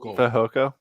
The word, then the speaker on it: Fehoko: Fehoko. Fehoko.